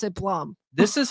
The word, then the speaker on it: Blum: Associated so does that mean everyone should start mispronouncing our names absolutely yeah it's Blum it's for sure Blum yeah Plum um but